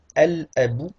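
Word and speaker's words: الأب: Si je dis al-abou, c'est le père, on va prononcer le lam.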